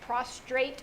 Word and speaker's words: prostrate: But when I looked up the word worship, it's to kneel down, to, I'll say it wrong, prostrate yourself. Prostrate yourself. With an R.